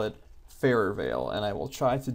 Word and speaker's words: Farrervale: map the entire time I've been calling it farer Veil and mogali kindly reminded me that it's supposed to be pronounced farer Veil so I promised him for